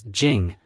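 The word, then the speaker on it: 井: with sweet tasting water the pronunciation of well in Chinese is Jing and thus Wang fujing gets its name both the complete map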